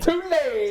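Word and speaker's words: Tulane: going with two lane two lane that's how they say it down there two lane two lane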